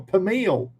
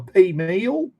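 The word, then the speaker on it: peameal: We just call it pea pea meal per meal or pea meal." Never heard of that one, Mark. p e a m e a l pea meal or per meal. How do you pronounce that? Pea meal.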